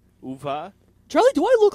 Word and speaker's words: Uwe: And then in Germany they pronounce W's as U, or they pronounce them as va, uva.